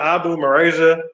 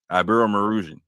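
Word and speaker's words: Iberomaurusian: So, do you know what the Abu Marasia? Do you know what that even stands for? Abu Marusian.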